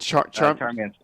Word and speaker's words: Charmansir: How do you pronounce it? Charmansir.